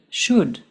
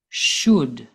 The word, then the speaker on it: should: they all use should we do not pronounce the L and the word should listen again should just like the other